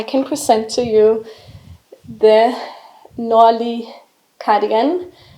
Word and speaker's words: Nordlig: confused about the pronunciation just know that the D is silent and that the g is silent so Danish loves to